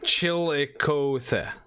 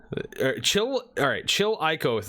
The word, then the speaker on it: Chillicothe: Yeah, I probably fucking Sure about butchered one? that fucker place. Chillicothe. Chillicothe. All right, that's how Chillicothe.